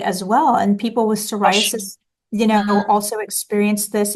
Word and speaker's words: psoriasis: Psoriasis.